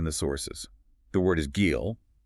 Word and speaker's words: גיל: The word is gil, pronounced kind of like wheel, but with a hard G.